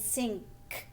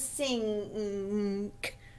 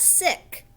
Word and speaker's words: sink: So nest, st, that's the ending blend, st, and sink, nk. Remember, sink rhymes with pink. So remember that. This is sink. Kind of hear that N. Nk. It's not sick. Sink.